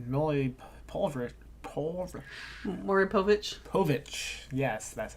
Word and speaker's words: Povich: one of those really poverty poor Laurie Povich Povich yes that's how you say it shows like